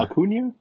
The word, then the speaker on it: Acuna: Yes, Uh, Acuna, Acuna. I'm Acuna, sorry. like Hakuna Matata, Oh, kind of. yeah, I didn't know if there's an Enya over the end, but Yes, Serge